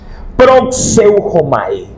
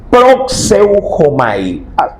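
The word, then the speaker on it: προσεύχομαι: término, mi amado, sí, proxeujomai. Proxeuomai. Yo sé que es medio difícil pronunciar, pero esa es la pronunciación. Si repetir esta este término. Proseuomai significa orar, significa suplicar y significa adorar.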